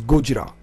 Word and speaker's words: Gojira: I mean, people are free to pronounce it as they want. Some will say Gojira, some Gojira, Gojira, or I think the best way to pronounce it is Gojira, and that's the Japanese, So, but don't worry about it.